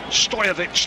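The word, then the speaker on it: Stojković: it's going to be Stojkovic now who is going to take the free kick, edge of his own penalty area. Stojovic, the actual Serbian pronunciation.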